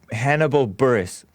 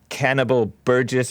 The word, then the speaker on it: Hannibal Buress: mentioned this story and I butchered this guy's name but I'm but I think I have it now Hannibal Hannibal Buress I called him cannibal Burgess or something like that at one time I